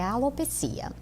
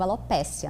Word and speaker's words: alopecia: Sim, o termo correto é alopecia. Nós pronunciamos num contexto geral no Brasil alopécia, né? Alopsia porque vem do grego, a raposa, a perda do pelo da raposa. Então é alopsia. Mas as duas formas são aceitável a pronúncia.